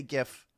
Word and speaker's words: GIF: some people say gif some people say jif i say gif it's a hard g folks come with me